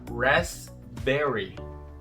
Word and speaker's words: raspberry: Você fala raspberry. Esse P não é pronunciado, raspberry.